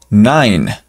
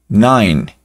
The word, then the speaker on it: nine: nueve también vamos a colocar eh la i como ayuda solita sería a Nine Nine y la e pues no se pronuncia el 10 no hay